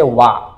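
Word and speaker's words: 話: হানাসি মাছ হইলো। এই হানাসি মাছের আবার আরেকটা উচ্চারণ হচ্ছে, সেটা হচ্ছে ওয়া।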